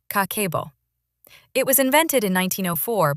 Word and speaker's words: Kakeibo: In Japan, there's a 100-year-old budgeting system called Kakeibo, pronounced Kakeibo.